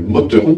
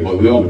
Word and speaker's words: Motteron: un lieu qui s'appelle Motteron, je ne prononce pas le E en alsacien, donc en anglais, Motteron, je ne fais pas la traduction, et de l'autre côté, sur un village qui s'appelle Locrist.